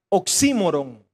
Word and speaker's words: oxímoron: Esta es una figura literaria que se llama oxímoron. Yo me quedé así como, ¿y eso qué es? Oxímoron, y lleva tilde en la I, oxímoron.